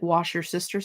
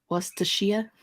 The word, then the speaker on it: Worcestershire: I remember an episode of Diners, Drive-Ins, and Dives where one of the cooks called it wash your sister sauce. Stop it. That's way worse. Worcestershire.